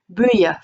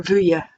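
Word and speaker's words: buidhe: Buya for yellow, I think can be pronounced buya or vuya, or I think buya or vuya.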